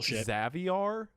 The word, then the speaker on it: Xavier: His first name is not pronounced Xavier, but it's pronounced as Caviar, but instead of a C, it's an X. So, Xaviar.